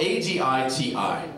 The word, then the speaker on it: Aditi: It's spelled A-D-I-T-I. And when she says it, it's like music. Her voice smells like, hello, this is Aditi.